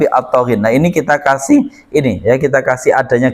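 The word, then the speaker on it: الطاغين: Jadi bacanya jangan litoghin tapi atoghin.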